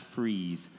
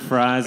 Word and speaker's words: Fries: all around there in a little town called fries Virginia an old mill town spelled Fri EES pronounced fries and and phrasing and that's right freezing the winter and fries in the summer and Eddie just grew up